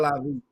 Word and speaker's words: LIV: LIV. And let me explain to people what live. It looked like live, but it's LIV. It's the Roman numbers for.